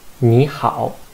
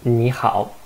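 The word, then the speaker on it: 你好: so it is because if there are two third towns in the syllable the first third in the first third tone should be chanted into the second tongue so actually i should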